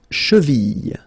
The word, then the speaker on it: cheville: La cheville. La cheville. Remember, double L like that after I, y, y.